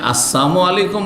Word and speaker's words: আসসালামু আলাইকুম: সাবধান, লাম যদি ওখানে সাইলেন্ট করে দেন তাহলে ওর মানে মরণ হয়ে যাবে। সালামের লামকে সাইলেন্ট করা বুঝেন তো? হ্যাঁ, উচ্চারণ করলেন না আপনি, তাহলে ওর মানে মরণ হয়ে গেল।